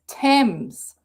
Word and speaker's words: Thames: Because I'm always saying Thames, but it's Thames. See how I remember saying it's said how you don't think it's said. You can't even pronounce that. Why has it got an A in there if it's Thames?